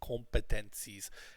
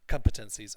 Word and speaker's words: competencies: And it's like we don't say competencies. It's competencies, and the stress is on come. Okay? Other pronunciation issues that came up in that class